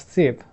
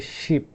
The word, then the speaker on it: sheep: People from Kolkata, they actually make this mistake. They pronounce it like sip. That's not sip, that's actually sheep.